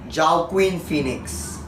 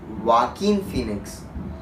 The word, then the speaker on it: Joaquin Phoenix: film but first we have to talk about job Quinn Phoenix a few moments later oh it's actually pronounced Joaquin Phoenix and I said ciao Quinn Phoenix but Joaquin Phoenix gives a riveting performance as